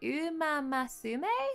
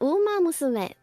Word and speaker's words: Uma Musume: I don't know how you pronounce that. I was taught once. Is it Umamasume, the horse game? Umamasume? Uma Masume. Yeah, that's the right. Yeah, is that Uma it? Mas. Wait, wait, Uma Musume.